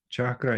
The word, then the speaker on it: cakra: the chakras now you notice that in Sanskrit chakra is spelled differently than in English in English we